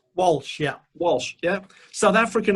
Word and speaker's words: Walsh: But the man that is Walsh, am I pronouncing that right? Walsh, yeah.